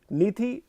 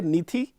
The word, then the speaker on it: Nithi: नीति सही है? ये आई थिंक सो ये साउथ इंडियन होने की एक छोटी सी एक बैक है ये, यू नो, नेगेटिव कि एच हमारे नाम में लग जाता है।